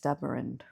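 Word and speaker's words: Staberinde: some threatening Dark Cloud fun fact it's pronounced stabin okay cuz I listen to the audio book yeah I I kind of like it more with the e pronounced but anyway the guy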